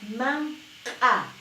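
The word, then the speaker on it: manq'a: Man-a, que es palabra glotalizada. Man-a, que significa comida. Man-a, estoy pronunciando con casi dentro de la garganta, con la glotis.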